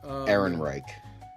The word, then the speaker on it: Ehrenreich: How do you say his last name? Ehrenreich. Ehrenreich. There you go.